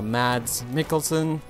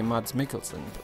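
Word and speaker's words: Mads Mikkelsen: how you pronounce him I as a German would say Ms mikkelson but I have no idea so I would go more for a ah instead of a mad I don't know I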